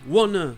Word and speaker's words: wanna: Donc, pour résumer, wanna, c'est l'orthographe familière, mais c'est en fait la prononciation de want to dans beaucoup d'accents, ou pour les gens qui parlent vite et n'articulent pas.